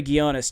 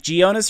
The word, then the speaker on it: Ghionis: so much and uh you pronounced my name correctly so that's always a good beginning really how do most people say it like geonis or something yeah geonis uh yeah man it's